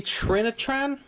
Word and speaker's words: Trinitron: 36-inch Sony Trinitron. Yeah, Trinitron's how you pronounce it.